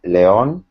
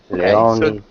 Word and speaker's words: León: The name I raised in León. It's a Spanish city. León is spelled Leon in Spain.